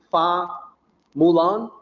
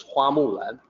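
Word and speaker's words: 花木兰: Well, in Mandarin, it's actually Hua Mulan. So the actual Mandarin pronunciation is Hua Mulan. The reason why it ended up being Fa is because that's probably a variant from regional dialect.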